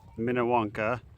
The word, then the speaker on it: Minnewanka: So yeah, we're on Lake Minnewanka. That's how we think we pronounce it.